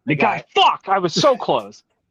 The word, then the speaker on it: Nagai: We watched a little movie called Violence Jack and another little movie called Devilman by Go Nagata. I remembered his name. Nagai.